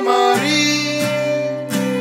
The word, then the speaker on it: Maryse: Oh, Maryse, bright with cheese, but not with peas, 'cause that's too harsh of a sound. Oh, Maryse, rhymes with Febreze, it's that odor-locking kind of air freshener.